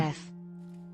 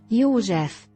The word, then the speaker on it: József: You pronounce it different. Cyrun? Can I say if it's right? I found a video. József. What? József.